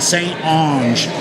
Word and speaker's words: St. Onge: there it's Patterson and st. Onge then I had to get the pronunciation it's Ong e st. onge and and then the st.